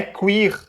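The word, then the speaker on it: queer: Você não sabe nem ler direito, Mona. É queir.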